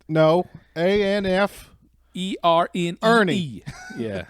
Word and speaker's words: Erne: Ernie. Yeah, It's named after his uncle Ernie. Amph Ernie.